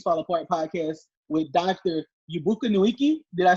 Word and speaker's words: Chukwuebuka Nweke: So the exact pronunciation is Chukwuebuka Nweke.